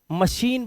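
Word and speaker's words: machine: का role play करेगा य सीच एक वर्ड है इंग्लिश का जिसे हम मशीन बोलते हैं क्या बोलते हैं मशीन तो यहां पे ना तो सा है ना एस एच है बट श आवाज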